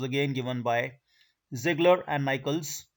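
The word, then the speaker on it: Nichols: given by ziggler and michaels or some people call it nickels whatsoever you want to uh pronounce it so zigglers and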